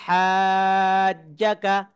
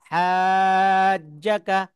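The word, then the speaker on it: حَاجَّكَ: এখানে তাহলে কি হলো হাজ্জাকা হাজ্জাকা সবাই একসঙ্গে জোরে জোরে বলুন হাজ্জা জিম কিন্তু দুইবার উচ্চারণ হবে জিম তাসরিদ হরফ সবাই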